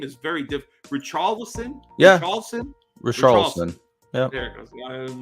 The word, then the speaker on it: Richarlison: I can't pronounce his name. His name is very different. Richarlison? Yeah. Richarlison.